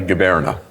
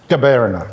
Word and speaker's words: Gaberna: Was it, it's a bit It's not easy, the last name, but tell me, how would you pronounce we would say Gaberna. Gaberna.